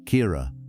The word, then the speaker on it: Kira: But the name had been there, Kira, with the emphasis on the first syllable, the way Sarah said it, which was different from any other way Caleb had heard the name said.